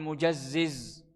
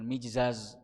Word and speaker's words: Mujazziz: Jadi beliau menunjuk Alqamah bin Mujazziz. Bacanya Mujazziz, bukan Mijzaz atau Mujzaz, tapi Mujazziz.